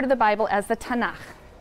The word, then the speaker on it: Tanakh: also on that sheet tanak which is really the letters t n and um and they put little A's in there to make it easy to pronounce because is hard to pronounce so tanak okay um and this